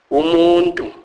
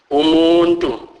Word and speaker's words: umuntu: Umuntu, umuntu, which means person. Semi-vowels. Y is pronounced as ye, ye, as in English word yeast.